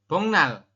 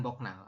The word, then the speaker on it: 복날: berubah bunyi jadi Eng maka dibacanya bongnal bukan boknal oke eh Mas Rihan